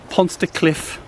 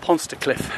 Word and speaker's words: Pontsticill: Hello guys, and welcome back to the channel, and welcome to Pontsticill Reservoir. I believe that's how it's pronounced.